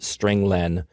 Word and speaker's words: strlen: I pronounce it stringlen because it means string length.